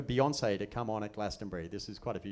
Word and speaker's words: Glastonbury: And he said, oh, for crying out loud, it's Glastonbury. It's 3 syllables. It's not that hard.